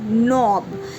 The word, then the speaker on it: knob: Knob, here k is silent.